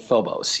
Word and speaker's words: Phobos: to turn our attention here and talk about phobos is that how you say it you do pronounce it phobos yes which is a satellite or a moon